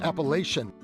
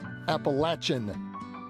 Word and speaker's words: Appalachian: Us Northerners have always pronounced it Appalachian, but after returning from our trip, we realized that the locals pronounce it Appalachian, and a strong case can be made that they are correct.